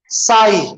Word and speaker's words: sigh: चलिए, जी, SIGH क्या बोलेंगे? साई.